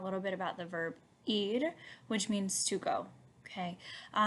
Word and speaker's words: ir: this verb properly so if you think about the thing on your body that you hear with right it's called your ear that's kind of how you pronounce this one right so it's going